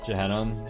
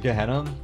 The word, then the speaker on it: Gehenna: Did you just say Gehenna with a soft G? I did. And you know, I switched back and forth because I don't know how to say it. Is it Gehenna? I hate having to say things aloud that I've like only like read in text for most of my life. Man. It is a hard G.